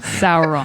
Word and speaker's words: Sauron: Yeah, so obviously the big example of that is Sauron from Lord of the Rings. Right. Did I pronounce that right, Chelsea? Yeah, you pronounced it right. Sauron.